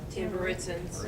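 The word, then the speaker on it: Tamburitzans: Tamburitzins.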